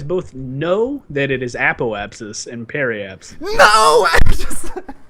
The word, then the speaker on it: apoapsis: that you guys both know that it is apoapsis and parabs no I just I just never